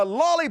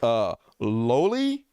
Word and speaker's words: loli: Oh, no, my lolly porn. Somebody told me that it's not pronounced lolly. It's pronounced loli, which makes complete sense.